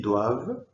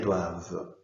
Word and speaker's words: doivent: surprenant spa c'est pour ça que ça se prononce ils doivent elles doivent et quand jours donc il faut pas laisser